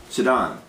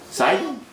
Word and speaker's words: Sidon: TI and went through sedon down to more sidon sidon pretty sure it's Sid I'm going to change